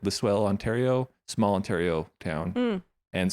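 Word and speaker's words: Listowel: it's from L listell that's how you say it lisell Ontario small Ontario town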